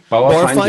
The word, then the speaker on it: Bauerfeind: Apparently, I don't know if I'm going to pronounce his last name correctly, but Charlie Bauerfeind? Bauerfeind, yes.